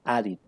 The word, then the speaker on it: added: Acuérdense que les dije que cuando terminen en T o en D se pronuncia it. Entonces aquí ¿cómo quedaría at si lo ponemos en pasado? Adi. Exactamente, muchas gracias. Added.